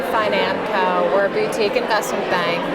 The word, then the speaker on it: Financo: Well, everyone pronounces it differently, but I say Financo.